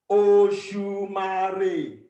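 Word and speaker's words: Òṣùmàrè: Oshumare. Oshumare. 4 syllables. So it goes do. All low tones.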